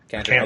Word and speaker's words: Kanter: So Kanter, that's how you pronounce it, right? Kanter? Yep. Kanter.